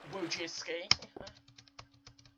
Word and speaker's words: Wojcicki: It is pronounced Wojcicki.